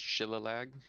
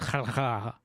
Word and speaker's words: shillelagh: It's pronounced Shillalag. It's pronounced Shillelagh. Shillaleh.